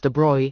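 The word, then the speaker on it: de Broglie: In 1924, the French physicist Lewis Victor de Brgley pronounced as de Bruy 1892 to 1987 put forward the bold hypothesis that moving particles of matter should display wavelike properties under suitable conditions.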